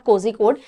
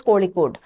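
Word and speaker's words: Kozhikode: किया था कि मैम साउथ इंडियन नेम्स में जब कभी भी जेएच आता है तो उसको ल की तरह प्रोनाउंस किया जाता है तोस this is नॉट कोजी कोड this is कोली कोड so this is what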